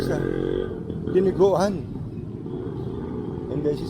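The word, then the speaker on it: dinuguan: oh, that's like sa diniguan. And then she said, yeah, dinugan. It's just the way she pronounced it. But it's diniguan. Diniguan. She just shortened it to dinugan.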